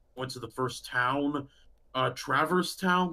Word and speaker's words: Traverse Town: other stuff and went to the first town, Traverse Town. Like, sorry Yeah. if I butchered that No, name. no, no, no. That's correct. Okay, Traverse Town.